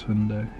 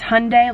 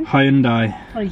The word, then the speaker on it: Hyundai: not going to pronounce Hyundai he says it wrong he it's Hyundai like Sunday H andai he says it like that and just European listeners back me up butcher high and die but I get told off